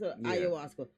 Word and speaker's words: ayahuasca: That's ayahuasca. That's how I pronounce it.